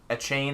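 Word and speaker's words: Achane: Yeah, I mean, I think you're grabbing Kendra Miller or Or is it A-Chain. a chain? That's how you say it.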